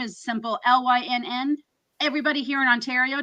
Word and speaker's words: Lynn: everybody here in Ontario tries to call me Lynette they think it's short for something I'm like it's Lyn Lyn they try to put an e all the time on the end in French it's ly no I know in French I know there's a e at the end Lyn yeah there's no E I actually I was